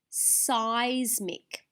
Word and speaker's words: seismic: and we said, well, it makes a long I sound, but in actual fact, it's not just the grapheme letter I that's making that. It's actually both of these letters together, the E and the I coming together.